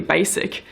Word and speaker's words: basic: Make sure you say a S.